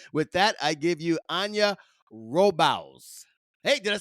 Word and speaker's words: Anja Robavs: bring her on with that I give you Ana robal hey did I say it right yeah that's